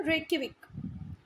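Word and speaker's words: Reykjavík: ठीक है, फिर से island की जो capital है उसकी spelling और pronunciation में बहुत difference है ना. Reykjavik, island की capital Reykjavik.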